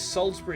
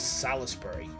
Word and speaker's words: Salisbury: for some reason I've I've seen Americans call this Salisbury steak who the pronounces Salsbury as Salisbury uh M Star officer